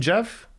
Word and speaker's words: Geoff: did you just say did you just pronounce my name jeff because you got it right yeah yeah yeah it